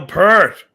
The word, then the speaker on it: Peart: I'd be like, you're pronouncing his last name wrong, first of all. I know it's Peart, but they always say Peart.